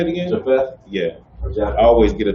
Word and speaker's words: Japheth: Ham had 3 sons, Noah had 3 sons, which was Ham, Shem, and Japheth. How you say it again? Japheth?